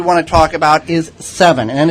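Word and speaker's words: Sevin: to talk about is seven and it's spelled sa VI in and a lot of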